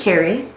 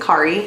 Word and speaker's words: Carrie: So my name is Carrie. It's a unique spelling. A lot of people want to pronounce it Kari. It's not Kari.